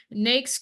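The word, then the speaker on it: NAICS: management consulting for example so uh uh so nakes codes and that's how you pronounce that it it stands for na North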